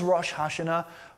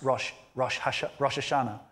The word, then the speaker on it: Rosh Hashanah: As we come to Rosh Hashanah, what is Rosh Hashanah? You might heard it pronounced Rosh Hashanah.